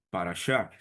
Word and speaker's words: parashá: Individualmente se pronuncia parchá.